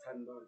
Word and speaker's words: Thando: It's Thando in South Africa because that's how people pronounce it.